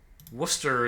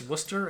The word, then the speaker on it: Worcester: Wednesday has silent letters Worcester is like all silent letters Colonel has a silent